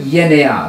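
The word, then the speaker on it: γενεά: The word yenea, that's the Greek word. I'm using the modern Greek pronunciation. I always say that on our videos. Yes. So we're not mispronouncing Greek words. The modern Greek pronunciation, yenea, that's the way they're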